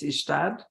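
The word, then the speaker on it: Ystad: down to visit that party I think it's ishtad and yes yes that's right I was so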